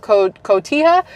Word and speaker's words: Cotija: Yolanda Sanchez was shot in the town of Cotija, because the J is not like pronounced.